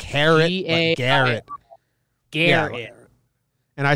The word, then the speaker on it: Gerrit: for Gerrit Cole now Baseball Reference is telling me to pronounce it Garrett and I kind of